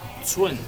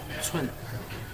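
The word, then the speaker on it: 寸: En este caso es Zun. Se escribe C-U-N. Tono 4. Zun. Muy bien. Pulgada se pronuncia Zun.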